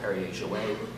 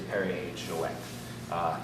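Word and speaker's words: Perrier-Jouët: There should be a little semicolon above the E. That way in France you know to pronounce the T. So a lot of people call it Perrier Jouet. It is Perrier Jouet.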